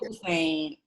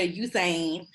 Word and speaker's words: Usain: I think you say his name, Usain Bolt, yeah. Bolt, yeah. I knew that's where we were going. I always say Hussein, and it's because I just feel like the U deserves the H in front of it.